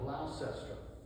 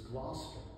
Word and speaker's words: Gloucester: character that she called glaucester asked oh liv please government it's gloucester gloucester you know don't say class and she said but